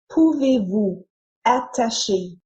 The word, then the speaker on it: Pouvez-vous attacher: In this case, the S at the end of Vous. is usually silent. Pouvez-vous? But because the following word starts with a vowel sound, like the À. in, Attacher. the S is pronounced as Z to link the two words together. Pouvez-vous attacher?